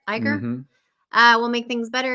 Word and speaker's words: Iger: that's not nice uh Bob Iger that's how you say it Iger uh we'll make things